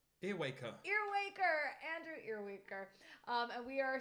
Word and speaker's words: Earwaker: Earwaker.